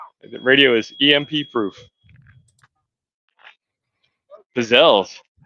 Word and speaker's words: pizzelle: Pizzelles. Or if you're from Baltimore, Pizzellis.